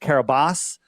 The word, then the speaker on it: Kiribati: And it said it was registered to the nation of Kiribati, and it had destination unknown. That's weird. So we'd like, where is Kiribati? Have you ever heard of Kiribati? It's pronounced Kiribati, but it's Kiribati with a B.